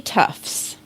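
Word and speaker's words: Toughs: look-alike geez it's three Tufts hope I'm okay what three Tufts three Tufts like t-o-u-g-h-s oh not like t-u-f-f-s like Tufts yeah like no like tough guy like spelled like that wow okay so what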